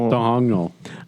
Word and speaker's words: Domhnall: Dongnal. Domhnall. I think it's like, I think the H is silent.